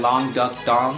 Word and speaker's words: Long Duck Dong: Then they had Long Duck Dong. That's how you pronounce.